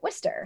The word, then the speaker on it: Worcester: the way that I used to say it, Worcester, like Worcester, whatever. Yeah. But like people will always try to pronounce it as Worcester.